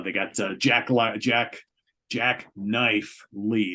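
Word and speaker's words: Jacknife Lee: got uh Jack Jack Jack knife Lee it's always hard to say his name because you want to say Jack life lead jackknife Lee uh as the producer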